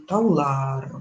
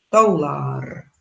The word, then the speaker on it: таулар: Если мы образуем множественное число, к нему добавим окончание лар, то уже ударение будет у нас, то есть ударение уже перейдет на последнюю гласную. Таулар будет. Таулар.